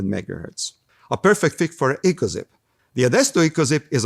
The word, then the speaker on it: EcoXiP: up to 600 megahertz a perfect fit for echo zip the Edisto echos it is a 1.8 for